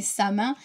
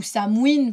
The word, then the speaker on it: Samhain: Dia de los Muertos, c'est Samin, ou Samhain, pour ceux qui le prononcent en gaélique.